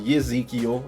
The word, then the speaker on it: Ezekiel: Ezekiel is pronounced Yezekiel in the Hebrew.